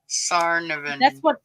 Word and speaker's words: Tsarnaev: Tsarnaev. That's how it's spelled. Tsar. Zarian. The T is silent. Sarnavan.